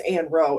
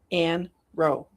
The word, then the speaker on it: Ann Roe: Her name is Ann Row.